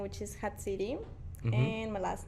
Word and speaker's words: Jatziri: So it's a name from Mexico, so and I pronounce it on Spanish, Mm-hmm.